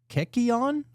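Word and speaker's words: kykeon: They had uh this thing called Keion, I think is how you say it.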